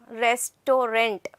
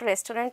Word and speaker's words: restaurant: loves to visit restaurant udit yes restorant okay it is not restaurant abhishek i'll tell you